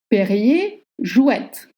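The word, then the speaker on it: Perrier-Jouët: Perrier, jouette. Perrier, jouette. Don't pronounce the R at the end of Perrier.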